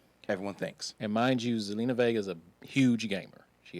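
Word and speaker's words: Zelina Vega: know what's what's her name i i can't pronounce it zelena vega thank you selena vega um so she's been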